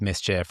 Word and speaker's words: MSCHF: If I'm a CMO who um wants to bring in some DNA that that kind of rhymes with mischief or that that kind of like you've been